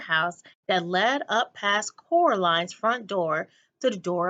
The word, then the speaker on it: Coraline: name wrong you know I can't say Coraline not Caroline not Coral Caroline at all he picked up a